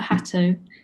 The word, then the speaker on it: Hato: London-based Hato Press, and I'm sorry, Hato or Hato? We don't mind, but Hato, we call ourselves.